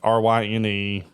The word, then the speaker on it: Ryne: So my name is spelled incredibly unique. Ryne.